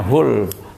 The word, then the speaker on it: hole: Hole itu bacanya hul.